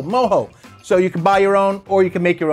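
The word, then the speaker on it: mojo: butt we marinated in moho that's right moho you know how to pronounce it not even know how to spell it oh m-o-j-o moho so you can buy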